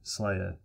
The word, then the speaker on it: SLYR: we can start using slayer and yes i will be calling it slayer from now on because syllables and we're beginning in the